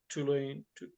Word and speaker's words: toluene: Whereas xylene would, or toluene, how's it pronounced?